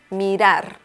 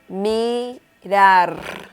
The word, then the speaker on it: mirar: Mirar. We have the letter R at the end of this word, and it is pronounced differently than the other R that is in the middle of the word.